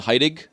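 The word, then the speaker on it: Hairig: Like, so my grandfather I called Heidig, and that's H-A-I-R-I-G, like Herrig.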